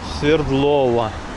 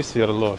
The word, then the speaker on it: Свердлова: Я уточню, еще некоторые называют Свердлова.